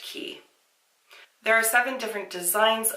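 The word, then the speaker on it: Quay: it's quite Australia but I'm pretty sure that word is pronounced key there are seven different designs available and they all retailed for $65 u.s.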